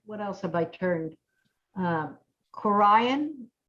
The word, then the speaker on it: Corian: Corian. Is that how you say it? Correct. Corian.